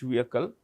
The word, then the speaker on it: vehicle: Geosynchronous Satellite Launch Vehicle. The H in vehicle is silent, so it's vehicle.